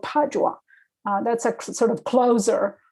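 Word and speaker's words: Padua: other Italian cities like the city of Padova it's called padwa that's a sort of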